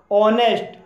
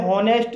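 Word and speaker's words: honest: ऑनेस्ट, ऑनेस्ट में H silent है इसलिए इसे ऑनेस्ट बोला जाएगा, इसे होनेस्ट नहीं बोला जाएगा, क्योंकि इसमें एच साइलेंट है इसलिए इसे ऑनेस्ट बोला जाएगा।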